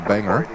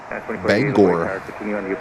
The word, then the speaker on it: Bangor: This one is going to Banganger. Bangor.